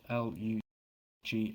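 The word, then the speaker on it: Lugh: homage to the god Lou pronounced l u g h or lug lunasa is a time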